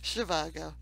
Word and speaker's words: Zhivago: Okay, so okay, you're gonna help me out with pronouncing this doctor's name, Mary B. Yeah. First question: what is Dr. Zhivago? Shivago.